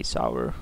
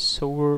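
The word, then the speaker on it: Sower: And then we get past Sour, or Sour of Temptation, my apologies, I always say Sour, and then someone like 20 videos ago corrected me, it's Sour of Temptation, as in you reap and sow, so might as well say it correctly now.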